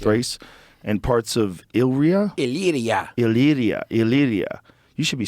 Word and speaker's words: Illyria: Illyria.